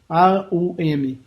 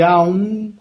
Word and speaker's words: Aum: purificar as nossas energias pronuncia-se a ou apenas OM para algumas culturas a pronúncia de Aum deve ser sempre ou mas o significado é o mesmo quando dizemos a um estamos dizendo do Espírito para a matéria o m você pronuncia mantendo o Lábio vibrando fechado eu sou o que